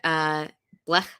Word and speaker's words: Blech: It's called Your Name is Your Blessing by Rabbi Benjamin Blech. I think it's actually pronounced that way, Blech.